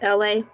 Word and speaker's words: Elay: My name is LA. Pronounced like LA, like the city.